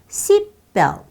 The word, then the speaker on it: seatbelt: 시트벨트처럼 T 발음이 중간에 꼈을 때는 그 소리가 안 나요. 연하게, 부드럽게 처리해서 seatbelt. 이렇게 끝나면 또 모르겠어요.